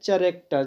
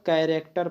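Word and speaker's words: character: इसको कुछ लोग पढ़ते हैं चैरेक्टर, चैरेक्टर ये कुछ नहीं पढ़ेंगे, सी एच से कहीं कहीं हम लोग, सी एच से कहीं कहीं हम लोग उसका उच्चारण क करते हैं, तो यहाँ पर हम लोग कैरेक्टर पढ़ेंगे।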